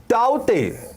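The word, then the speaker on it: Tauktae: ताउते, ये के साइलेंट था, ताउते तूफान जो दिया गया वो किसके द्वारा, म्यांमार के द्वारा।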